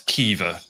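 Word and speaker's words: Caoimhe: my housemate my podcast co-host her housemate's name is spelt c-a-o-i-m-h-e and somehow that's kiva yeah no that's uncle mai he's lovely i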